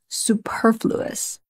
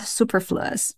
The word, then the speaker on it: superfluous: unnecessary you know that the stress is on the second syllable Superfluous not Superfluous okay you could see